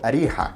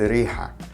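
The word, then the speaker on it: أريحا: In Arabic though, Jericho is actually called Ariha, which in the dialect is just pronounced as Riha.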